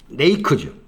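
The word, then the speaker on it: ריק: 히브리어는 히브리어 발음은 레이크죠. 히브리어 발음은 레이크인데 그 레이크의 히브리 단어를 헬라로 옮기니까 나카가 되는 거예요.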